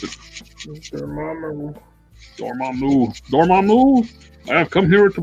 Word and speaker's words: Dormammu: It's the same head that came with the what's it, Damaru Build-A-Figure. Dormammu. Very how to pronounce it. Dormammu.